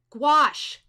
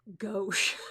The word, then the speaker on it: gouache: emotionally drained i gets gouache thank you wendy i always want to call it gosh and i know that's not right gouache thank you now